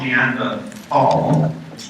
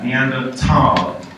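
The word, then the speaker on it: Neanderthal: this word is not neanda fall but neanda T so forget the th just pretend because it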